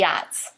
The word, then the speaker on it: Aughts: But it's not the Nats. It's the Aughts.